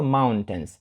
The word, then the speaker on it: mountains: - Це гори там цікаво те що в кінці I літера I перед N не читається mountains не mountains Тобто ми не кажемо ось це і або I Ні це просто mountains так ніби тої літери I просто не існує I have Two Brothers